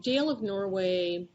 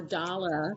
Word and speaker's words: Dale of Norway: of norway hilo um jail of norway or dollar as they as i've been told is the correct pronunciation was very popular in